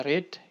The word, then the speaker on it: read: kita pakai has ya red ini bacaannya red ya memang tulisannya sama tapi bacaannya berbeda yang pertama dibaca read yang kedua dan ketiga dibaca red so ini karena yang